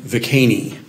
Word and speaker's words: Viquesney: Viquesney. And that's, of course, not the way that's going to sound in French, but that's the way that the name is still pronounced with an Indiana twang in the area around Spencer where he grew up.